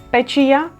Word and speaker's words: печія: друге треба - це римувати відоме і невідоме наприклад пастух фартух печія течія зуб тризуб поєднуємо те в чому